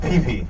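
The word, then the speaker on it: pipi: The line word for cow is pronounced pee pe.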